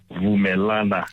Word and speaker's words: Vumelana: As you're pronouncing my surname well and the name of the organization is Vumelana. Vuana Advisory Fund.